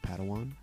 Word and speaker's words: Padawan: I think it's pronounced Padawan. Oh, Padawan, excuse me.